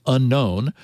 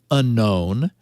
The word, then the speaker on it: UNKN: leader, known as the four uppercase initials UNKN, I guess thus pronounced unknown, who took down servers and disappeared.